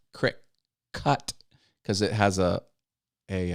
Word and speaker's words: Cricut: spelled like that it's c-r-i-c-u-t like cut crick cut because it has a